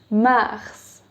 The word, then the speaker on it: mars: March is like the planet Mars. Mars.